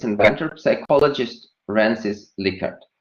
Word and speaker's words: Likert: its inventor, psychologist Francis Likert. Lots and lots of people are pronouncing it as Likert, but as I have recently figured out, this is a mispronunciation. So Likert is the right pronunciation.